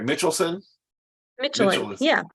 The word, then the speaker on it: Mitschelen: Mitschelen. Mitchell. Yeah, Yeah, Mitchelen, like the tires almost.